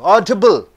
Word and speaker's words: audible: See, audible is an adjective. So, you have to stress on A-U-D, audible. So, adjectives and nouns, you are stressing on the first syllable.